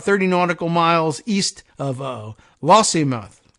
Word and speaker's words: Lossiemouth: It was spotted entering the Moray Firth on November 10th and seen about 30 nautical miles east of Lossiemouth. Lossiemouth, maybe? It's spelled like Lossy Mouth, but Lossiemouth.